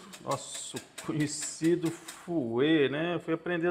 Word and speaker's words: fouet: Para mim chamava era fouille, mas não tem nada de fouille. Fouet, agora eu aprendi. O pessoal aí nos comentários aí que me falou que se pronuncia dessa forma.